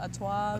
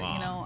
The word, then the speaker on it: Artois: Yeah, some people say Stella Artois, but Artois. I'm not French, so.